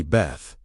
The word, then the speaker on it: Beth: The second letter is Beth, pronounced approximately Beth, and its ancient name is associated with something remarkably concrete.